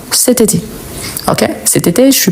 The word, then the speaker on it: cet été: ça on dit ce mais ici il y a une voyelle donc on va faire la liaison et on dit c été C été donc c été on prononce tout ensemble cet été OK cet été je